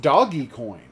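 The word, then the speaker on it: Dogecoin: dog or doggy coin apparently it's pronounced doggy coin who knew hi horror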